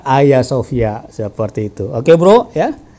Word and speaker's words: Hagia Sophia: er doang gitu termasuk Hagia Sophia kitapun bacanya dengan adanya Hagia Sophia ternyata ayasofia seperti itu Oke Bro